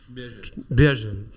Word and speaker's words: Béhagel: Donc à mes côtés se trouve Morgane Lemoel et Béhagel. J'ai bien prononcé ? Béhagel.